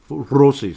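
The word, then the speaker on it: Rossi: with some of that positivity Faber and rosi rosi see I'm saying it correctly Marco so I'm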